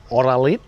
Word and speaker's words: Oralite: Another one you can get at most pharmacies here is called Oralit. It's spelled like Oralite.